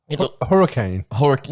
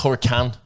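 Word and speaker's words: Huracán: It's spelled Huracan. But it's... anyway. It was green. Hurricane? No, because it's Huracan. C-A-N. It's not Hurricane. Not a hurricane.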